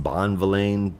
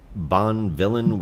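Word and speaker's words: Bonvillain: I'm sure Tamara that your last name should be pronounced Bon vain but Bon villain works for me so much better because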